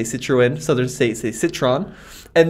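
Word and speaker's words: Citroën: it citroen all right so in the uk in the uk it's citroen right right here in the us if you're southern it's citron if you're maybe a little bit more sophisticated it's citroen yep uh not to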